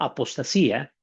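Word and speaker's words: ἀποστασία: Tenemos, para recordar un poco, en el griego eh, habíamos dicho que se decía apotatía, pronunciado apostasía, para referirse a la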